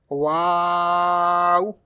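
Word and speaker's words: واو: It is pronounced by rounding your lips. Wow.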